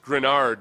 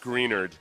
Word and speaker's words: Greenard: he said Texans fan it's it's pronounced grenard not greenard and I'm like all